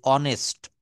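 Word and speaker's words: honest: অনেস্ট।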